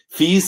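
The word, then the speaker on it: Fies: Fees as in niece.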